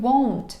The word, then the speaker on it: won't: Зверніть увагу на вимову, тому що дуже часто учні плутають його з want. Want- хотіти. W я не буду. I won't be, я не буду.